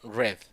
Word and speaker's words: read: yo pronunció el par el pasado red no lo pronunció ruiz sino red y el principio pasivo